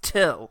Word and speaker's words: Thgil: He says, my name is Till, spelled Thgil. Pronounced Till.